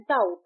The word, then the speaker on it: doubt: बट जब हम इसे प्रोनाउंस करते हैं तो यहां बी साइलेंट है। हम कहते हैं डाउट टी ओ यू टी डाउट।